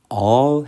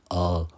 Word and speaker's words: all: 단어를 저희들은 올이라 있는데 사실 이게 올이 아니라의 발음 기호가 시자 땡땡이다 보니 all 하셔야 돼요 올도 아니고 얼도 아닌 그 중간 소리 어 어 이걸 만드셔야 됩니다 저도이